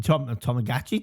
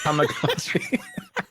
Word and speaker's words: Tamagotchi: Anyone that says a Tomagi Tomagachi tomagotchi. That's the I can't pronounce it. Tamagotchi.